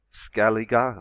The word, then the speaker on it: Scaliger: before creation itself even before the beginning of scaling is Julian period of four thousand seven hundred BC and you can read for it well because Jesuits already identified scaling scaling uh scaliger sorry pronunciation has public enemy sharpen their nibs